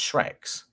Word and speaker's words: Schreck: Shrek basically yeah um the S on the end because it's uh the genitive form sorry genitive form there so it should be anyway let's not sidetracked into German grammar again so sorry that's pronounced Shrek's Shrek oh yeah okay